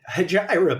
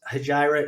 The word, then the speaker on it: Hejira: pronounce the Hijra frequency hayra by the way is guys haira is a Joanie Mitchell song but it is also an Arabic word that means Exodus okay so it is The